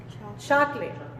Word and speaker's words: chocolate: Ciertas letras o sílabas que nada más no se pronuncian, es como si no existieran. ¿Cómo decimos chocolate en inglés? Chocolate. Chocolate. Chocolate.